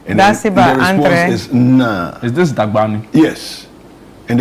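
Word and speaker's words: Nna: And the response is Na. So N-N-A. Try and pronounce that N-N-A in your mind, okay? Na. That's actually father in Igbo.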